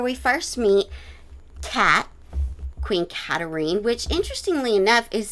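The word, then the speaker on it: Katharine: interest and where we first meet cat queen katarine which interestingly enough is spelled just like catherine but is pronounced phonetically katarine um we're in injury down which is the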